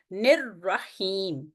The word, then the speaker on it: الرحیم: بسم اللہ الرحمن الرحیم۔ اسی طرح الرحیم میں بھی نون کے اوپر جو کسرہ ہے یہ جا کے آواز ٹھہرے گی را ساکنہ پہ، الرحیم۔ اس چیز کو ہم